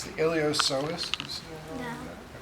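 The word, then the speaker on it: iliopsoas: pis with a p ilos the p is silent so it's the ilos you see right and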